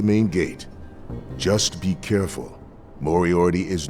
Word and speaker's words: Moriarty: Might want to check with Moriarty.